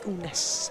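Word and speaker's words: Unax: We have Unash, because actually the way you pronounce it, that name is Unash.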